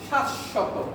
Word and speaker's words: শাশ্বত: যে যদি বাংলা শব্দে বফলাটা শুরুতে আসে বফলার উচ্চারণ হবে না, যদি বফলাটা মাঝে আসে বা শেষে আসে উচ্চারণটা ওই যে বর্ণের সাথে আসবে ওই বর্ণের উচ্চারণটা কয়বার হবে? দ্বিত্ব হবে। দুইবার হবে।